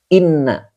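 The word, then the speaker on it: إنّ: Inna ini dibacanya inna, jangan in. Kenapa? Depannya adalah isim. Kalau depannya fi'il dibaca in. Kalau depannya isim maka dibaca inna."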